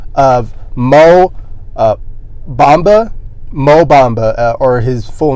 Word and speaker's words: Bamba: the name of Mo Bamba, or his full name is Mohamed Bamba. So or Bamba. Sorry, I just had to think about that. It kind of rhymes with Mamba, but that just want to put that out there.